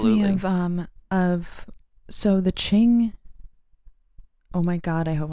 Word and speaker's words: Qing: of so the Qing. Oh my God, I hope I'm saying it right. Qing. It's not Qin, right? Qing dynasty. They were a Manchurian Which one?